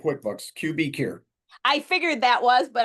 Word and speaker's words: QBcure: Yeah, it's just QBcure. So Okay, I thought QB so. like QuickBooks, QBcure.